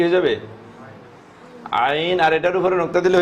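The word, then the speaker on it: عين: বর্ণ আগে বলছি আমি, এটা কণ্ঠনালীতে যাবে কি আইন, আইন। এটা যতক্ষণ কণ্ঠনালীতে না যাবে এটা উচ্চারণ হবে না, মুখে রাখে আপনি যত দিকে চাবেন এটা উচ্চারণ কি সহি হবে না, শুদ্ধ হবে না।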